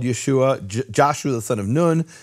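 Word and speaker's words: ישוע: Hebrew grammarians and linguists how to say the name Joshua in Hebrew it's Yehoshua and Yeshua which later became Jesus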